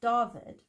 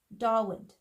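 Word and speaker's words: Dawid: pronounced differently so like a w is actually not pronounced what it's pronounced it's got a v sound so if you have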